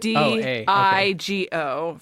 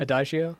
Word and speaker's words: Adagio: And I don't know how you pronounce this word. You shouldn't say it. Adigo for strings is a song from... Adagio?